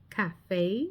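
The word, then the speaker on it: café: The letter E as in cafe sounds like a hard a cafe which we all know what a cafe is.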